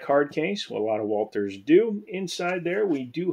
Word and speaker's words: Walther: a look at a walther walter walter walter however you pronounce it i say walter this one is borrowed